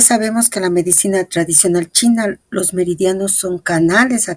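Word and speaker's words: qi: que la medicina tradicional china los meridianos son canales a través de los cuales fluye la energía vital conocida por la tradición china como K aunque ya me aclararon que se pronuncia chi estos meridianos conectan los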